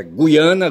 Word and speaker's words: Guiana: Contudo, o dicionário Rais indica que esse U é para ser lido, tá certo? Então é Guiana, GUI, é para ser lido gu e não gui, tá certo?